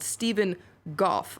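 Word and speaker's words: Stephen Gough: 54-year-old British man, a former Royal Marine called Stephen Goff. I think that's how you pronounce his name.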